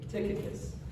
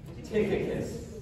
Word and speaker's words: Tychicus: Hey, Tychicus. Can you say that with me? Tychicus.